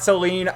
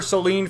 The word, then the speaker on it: Selene: to say that right away it's SEL not Seline I've called her Selene forever when I first read the Manga you